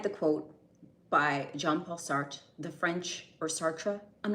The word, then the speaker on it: Sartre: So, I I've been told that the correct English pronunciation is Sartra. So, we're going to go with that.